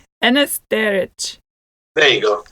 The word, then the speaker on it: Enes Cerić: Let me hear it in with you pronouncing your whole name. It's Enes Cerić. Enes Cerić.